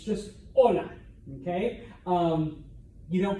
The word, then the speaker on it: hola: sign all right uh if you see H in Spanish don't pronounce it it is completely silent all right that is why what is 8 it's not hola okay I know right